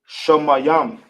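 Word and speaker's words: שמים: How we pronounce it in the ancient will be Shamayam.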